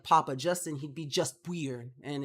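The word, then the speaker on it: buir: a term of endearment today's word however is weir it's spelled b-u-i-r and basically it just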